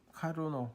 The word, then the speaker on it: 카르노: 아, 어떤 분들은 또 어떤 책들에는 보면 카나프 맵이라고 돼 있는데요. 어, 카르노 사람 이름이겠죠. 카르노가 만든 맵이다. 카르노의 맵이다. 이런 뜻이 되는 거고요. 카나프 맵이라고 하는 건 영어 발음으로 하면 그런 식으로 되겠습니다. 근데 사람이 이름을 가능하면 그 나라에서 부르는 대로 부르는게 맞다고 봅니다.